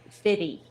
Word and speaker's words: 50 Cent: we've been talking about 50 cent for a long time it's pronounced fitty it's 50 cent and this is 50